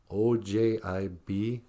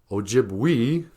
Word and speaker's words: Ojibwe: And in Ojibwe, when you see the letter E, it's pronounced A, like in the word OJIBWE, OJIBWE. We don't say OJIBWE, we say OJIBWE.